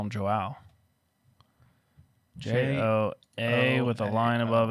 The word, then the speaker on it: João: Joao What's the J's like an H, right? in Brazil. It's not Spanish, is it? It's Portuguese. I That's think it's pretty Joao.